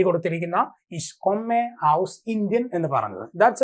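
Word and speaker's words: aus: ഔ ഔ ഔസ് എന്നാണ് പറയാ. നമ്മൾ ഔഷധത്തിന്റെയൊക്കെ ഔ എന്ന് പറയില്ലേ, ആ ഒരു ഔ എന്നുള്ള ഉച്ചാരണം വരും, അതിന്റെ കൂടെ എസ് ചേർക്കാം. അപ്പൊ എന്തായി? ഔസ് ഇന്ത്യൻ.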